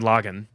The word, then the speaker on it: Lagann: So Gurren Lagann. It's Lagann. Yeah, Gurren Lagann. That's how they pronounce it.